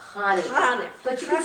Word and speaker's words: Hanukkah: It's Hanukkah. Hanukkah. But you can say Hanukkah. I say Hanukkah, but it's a guttural It's a sound.